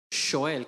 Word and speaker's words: Shoel: Shoel, como el argentino dice, sí, che, boludo, Shoel.